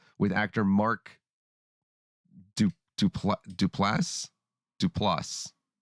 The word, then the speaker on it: Duplass: his 2018 interaction with actor mark du touple duplass to plus it's spelled d-u-p-l-a-s-s oh there you go that's the